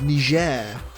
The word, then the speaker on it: Niger: it yeah it's not please don't hard g it's or you'll be cancelled